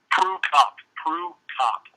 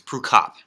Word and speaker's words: Prukop: How do you pronounce the last name? Prukop.